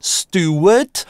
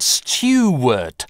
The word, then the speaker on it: Stuart: Кто-то из британцев произносит это без [j], Stuart, но есть более классический RP вариант Stuart, с [j] Stuart.